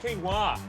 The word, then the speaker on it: quinoa: Hey, it's pronounced quinoa.